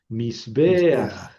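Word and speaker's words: מזבח: Para no leer mis bej se pone esa pata furtiva y se lee antes de la get mis beas mis beas y quiere decir altar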